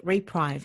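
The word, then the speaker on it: Repreve: And I understand that it uses a fabric called Reprive. Is that how you pronounce it?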